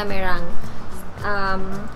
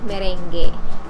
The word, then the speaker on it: meringue: Ganun talaga yung pag-pronounce sa meringue. Nung bata ako, ang tawag ko sa kanya, merengue.